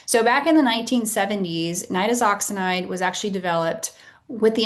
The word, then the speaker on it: Nitazoxanide: So you may hear this pronounced a couple different ways. Nittooxinide. That's not correct. It is nitoxinide.